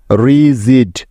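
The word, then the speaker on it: rigid: ড তাহলে জি আই ডি মিলে হলো জিড রিজিড রিজিড মানে হচ্ছে দৃঢ় শক্ত বা কঠিন ঠিক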